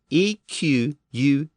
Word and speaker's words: equus: example is the word equus, which is a term for a class of animals, including horses and zebras. It's spelled E-Q-U-U-S, but the first U is often pronounced as a W or W sound, so it's equus.